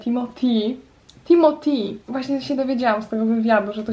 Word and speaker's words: Timothée: przed chwilą obejrzałam krótki fragment wywiadu z Timothy Timothy właśnie się dowiedziałam że to się tak mówi